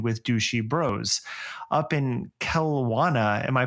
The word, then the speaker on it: Kelowna: Up in Kelowna, am I pronouncing that right, Matthew? It's Kelowna. Kelowna, yeah.